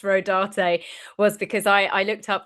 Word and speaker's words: Rodarte: The only reason why I know it's pronounced Rodarte was because I looked up the designers.